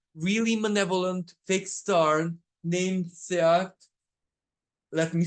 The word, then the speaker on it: Scheat: hang around a really malevolent fixed star named Seat. Let me spell that out for you.